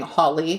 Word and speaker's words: Hawley: And by the way, when I'm saying Holly, his name is spelled Hawley.